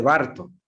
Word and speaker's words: Burton: es la lámpara de Barton, ¿sí? Se escribe Burton, pero se pronuncia Barton, ¿sí? Con B larga, ¿sí?